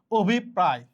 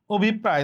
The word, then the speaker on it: অভিপ্রায়: যদি র ফলা থাকে যে বর্ণের সাথে র ফলা আছে ওই বর্ণের দ্বিতীয় উচ্চারণ হবে। আরো একটা শব্দ আমরা দেখি। অভিপ্রায়। অভিপ্রায়।